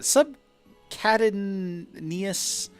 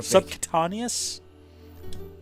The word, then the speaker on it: subcutaneous: Subcadinius. I can't actually pronounce the word.